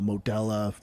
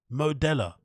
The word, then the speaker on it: Modelo: like you know uh model of 18 you know yeah core is eighteen dollars dude eight bucks eight bucks modella have you heard anybody pronounce a Modelo Modelo in your entire life modella like I'm not even